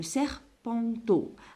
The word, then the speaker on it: serpenteau: Et le petit, والصغير, le serpenteau. Alors, E-A-U à la fin se prononce O.